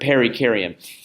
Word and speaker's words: perikaryon: But if it helps you remember how to pronounce that word, perikaryon. Peri actually means beside, and karyon is a reference to the nucleus or the origin of the cell.